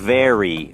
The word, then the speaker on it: very: นะ ครับ คำ ว่า very เป็น ตัว v นะ ครับ ดัง นั้น เรา ไม่ ได้ ออก เสียง เป็น ว แหวน นะ ครับ จะ ออก เสียง เป็น very very นะ ฮะ แล้ว